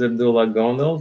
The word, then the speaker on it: Abdullah Gondal: you say it uh yeah my name is Abdullah gondo thanks for having me on the show it's